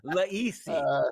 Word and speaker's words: Lisi: Welcome in, Laisi. Let's do it. Yeah. Oh, because I butchered Di Lorenzo's pizza, I apologize.